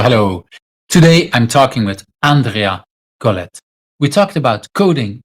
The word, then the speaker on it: Andrea: Yeah, I have a strange pronunciation. It's Andrea.